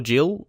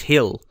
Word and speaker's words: Gil: it's not Gil or Jill Gil not it it's hill hill is that his so say that for now Hill cuz obviously he Spanish I knew there's probably a different way you have to say his name but I'll call him